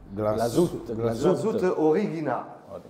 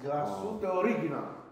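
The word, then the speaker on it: Glashütte Original: Glassout Origina. Alla tedesca. Glassout Origina.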